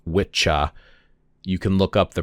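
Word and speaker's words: wicca: right Old English and it looks like wiah but apparently it's pronounced witcha you can look up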